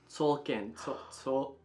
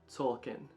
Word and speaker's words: Tzolk'in: Tzolk'in. Tzolk'in.